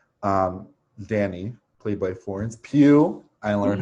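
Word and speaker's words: Pugh: was last year um danny played by florence pew i learned how to say it yes thank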